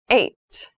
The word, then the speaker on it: eight: Eight.